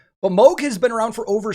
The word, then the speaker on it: Moog: about it and said it has dutch origins where it was originally pronounced mulch and then the germanic way of saying it is moog and then a lot of english people say moog he actually did say